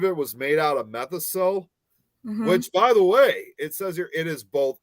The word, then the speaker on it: Methocel: It's METHOCEL.